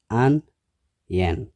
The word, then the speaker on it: onion: ማለት እዩ carrot ሻውዓይ onion ክልተ syllable ኣለዎ onion እቲ stress ኣብቲ ቀዳማይ syllable እዩ onion ሻሙናይ spaghetti ሰለስተ syllable